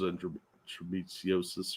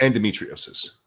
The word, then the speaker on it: endometriosis: One of them was endosiosis or however that's pronounced. Endometriosis.